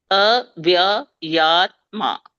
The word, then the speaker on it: avyayātmā: And now say those 4 syllables together, but you should give me 4 syllables, right? Yeah. Go there again. Avyayātmā. Faster. Avyayātmā. Avyayātmā. Avyayātmā. You got it now? Ajopi san avyayātmā. Right? Every syllable is pronounced there.